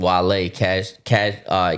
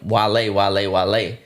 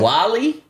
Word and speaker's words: Wale: And then everybody in the chat is saying, Wale. But him not knowing Wale, he don't know how to say the name. So he says, wait, Wally? Wally. He's like, Wally?